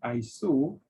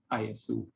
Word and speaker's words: ISO: its short form which is iso which is pronounced iso and not iso it's not an acronym but rather it's uh